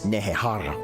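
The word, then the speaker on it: Nehekhara: During a drought in their home of Nehehara when he was still alive, and that's Nehehara with a silent K you'll continue to not hear, SETTRA sacrificed his own children to appease the gods and bring rain.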